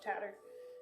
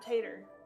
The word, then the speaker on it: Tatter: Oh, thank you so much, Tatter. And I said it right this time, not Tater, though you will forever be the Tater of Tots.